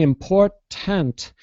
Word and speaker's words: important: we don't really explode that middle t or the first T so instead of saying important we'll say import so it's like yeah let me let me I'm going to try to write it phonetically in the chat import important so we don't it's it's really technically it's called an imploded te import like my tongue goes up on the roof of my mouth but I don't release